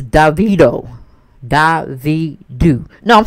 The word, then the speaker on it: Davido: trini t uh she was telling me the pronunciation of uh the correct way of saying uh i've been calling him devito davido it's davido da vie do no i'm sorry davido david